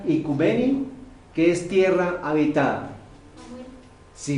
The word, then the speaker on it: oikumene: Dice, del griego antiguo, oikumenos o icumene, aunque se pronuncia icumeni, que es tierra habitada.